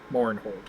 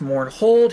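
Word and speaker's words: Mournhold: didn't Lydia Mortfe hold Mourinhold mispronounce it as a character like that'd be funny. No, that'd be hysterical at 100%. Yeah. Yep. I was um make a note. It's mourn hold.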